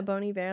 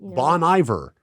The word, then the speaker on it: Bon Iver: that is a 21 000 boniver boniver yeah bony bear like he won best album in like 2012 or something oh Bon Iver it's not Bon Iver that's how I read